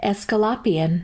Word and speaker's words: Aesculapian: It is spelled Aesculapian. Escalapian.